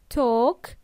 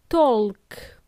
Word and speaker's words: talk: engage in small talk talk has a silent L we pronounce it as talk not talk talk small talk what